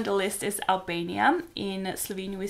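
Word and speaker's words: Slovenija: will be Slovenia obviously in Slovene we pronounce it Slovenia and our capital city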